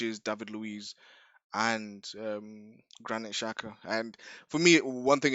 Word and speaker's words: Xhaka: it looked like the triggers were Shaka, Xhaka. Sorry, I don't know why I pronounce it Shaka.